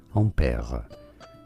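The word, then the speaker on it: Ampère: you say it well in french his name is said as ampere ampere in english this is generally said one of two different ways either in british english ampere ampere or in american english ampere and pia which one is the closest to the french certainly the british english pronunciation ampere is way closer to the french on pere or the original name and now you know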